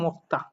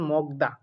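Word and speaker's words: 먹다: এখন অনেকে এটার উচ্চারণ করেন মগদা। অনেকে কি উচ্চারণ করেন? অনেকে এটার উচ্চারণ করেন মগদা। তো আমি বলবো যারা আমরা গত শুক্রবারে সরাসরি যে ক্লাসটি আমি নিয়েছি, যারা আমার সেই হোয়াটসঅ্যাপ গ্রুপে যুক্ত আছেন, তারা কিন্তু বলতে পারবেন কেন এটা মগদা না হয়ে মক্তা উচ্চারণ হবে।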